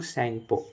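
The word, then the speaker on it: Tsangpo: The Brahmaputra river originates in द अंगसी glacier of Tibet where it is known ऐरारलंग सेंगपो। T pronounce नहीं होता।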